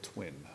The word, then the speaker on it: TTWIIN: It's a technology accelerator, and it's called Twin. It's spelled funny, TTWIIN.